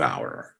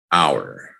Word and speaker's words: hour: Hour. Say it with me, everybody. Hour. The H is silent.